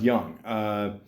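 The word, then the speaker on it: Gung: And, obviously it's based on a true story, about, the guy here, George Hung, or George Young, G-U-N-G, Young, or Guy, I think it's pronounced Young.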